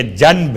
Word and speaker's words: جنب: جیم نون بے، چونکہ تجوید کے قاعدے کے لحاظ سے آپ کو تلفظ میں میم کی آواز محسوس ہوگی، جنب، حالانکہ جنب ہے۔ اس کا ترجمہ کیا ہے؟